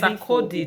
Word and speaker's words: Sarkodie: So she made it clear to us that Sakadi was name is pronounced as Sakodi, the musician, Ghanaian musician.